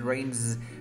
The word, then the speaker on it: rains: It rains. Remember that because before the S, we have a vocal cord sound like rain. You pronounce like Z, right?